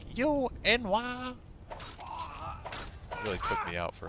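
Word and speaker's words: n'wah: I remember reading Enwa before I'd played Morrowind, and I was like, no way that it's pronounced Enwa. It's got to be pronounced like Noir.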